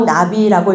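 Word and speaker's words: נביא: 히브리어로 나비라고 읽는 예언은 미래를 점치는 개념이 아니라 하나님의 말씀을 대신 전하는 대언으로 이해해야 합니다.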